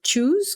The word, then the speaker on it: choose: Lembrando que a gente não fala esse E que está aqui no final para pronunciar em nenhum dos dois casos. Então, a gente vai falar choose, choose, choice, choice. Então, não fala choose e não fala choice, tá?